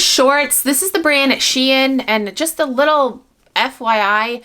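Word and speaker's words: Shein: i found these shorts this is the brand she in and just the little fyi brand is called she in not sheen not shine it's sheen she in there's the label i actually worked with this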